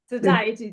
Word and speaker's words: satiety: a key sat sati oh how do you pronounce say okay or satiety satiety thank you satiety signal to reduce appetite